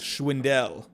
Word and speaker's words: Schwindel: So it's Schwindel. Never actually saw, hey, the pronunciations, if I don't hear it, I just see it and I say it.